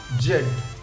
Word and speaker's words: Z: ঠিক উচ্চারণ করি জেড জেড ব্রিটিশ ইংলিশ অনুযায়ী এর উচ্চারণ আমরা ঠিক করি সেটা হচ্ছে জেড আমেরিকান ইংলিশ অনুযায়ী এটাকে